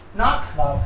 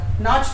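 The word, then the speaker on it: nach: नॉक ख है okay this one नाक नाच तो नहीं है परफेक्ट वेरी गुड नाक is correct C एच इज ख नाक सी एच से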